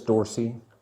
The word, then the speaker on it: Dorsey: It's not Dawsey, it's Dawsey, isn't it? It's Dorsey. D-O-R. Dorsey.